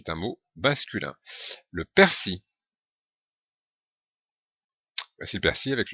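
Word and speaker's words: persil: un mot masculin le persi VO c'est le persi avec le l final qui n'est pas prononcé les oignons c'est le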